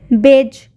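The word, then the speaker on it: badge: ठीक उसी तरीके से बेज बेज में भी डी का साउंड नहीं आ रहा है टॉम टॉम में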